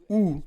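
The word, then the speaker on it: οὐ: Mais le deuxième « pas » dans ce verset est le mot « ou » qui se prononce « O-U » et qui signifie un non absolu, une négation sans condition.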